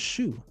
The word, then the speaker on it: shu: And the shin is vocalized as shu, not sha. Changing the shu to sha alters not only the